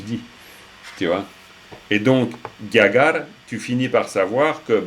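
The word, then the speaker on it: རྒྱ་གར: Alors, de nouveau, si vous disiez Gyakar, c'est pas faux, ça va. Mais c'est vrai qu'à l'usage, vous entendrez plutôt Gyagar mais Gyakar.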